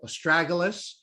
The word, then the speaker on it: astragalus: started taking um and I know people pronounce this this herb differently either aralis or astragalus and and astragalus is designed to enhance